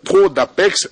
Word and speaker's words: Pro d'Ipex: concerne les grands prix pro d'Apex. Attention, ça s'écrit pro d'Ipex, mais la prononciation est tout autre, c'est pro d'Apex d'après les spécialistes que vous aurez à découvrir sur ce plateau qui sont avec moi.